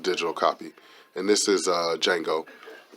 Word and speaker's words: Django: And this is Django. The D is silent.